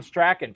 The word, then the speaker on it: Strachan: It is the incomparable Tom Strachan. Tom, welcome in, man. Thanks for having me, and I truly appreciate you pronouncing my name right.